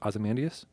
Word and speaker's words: Ozymandias: Ozymandias? Okay. How would you say it? Is it with an O? Yeah. Okay. Then you said it right.